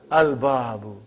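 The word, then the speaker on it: البَابُ: Al-babu. Is it moon letter or sun letter? Moon letter. You did pronounce lam.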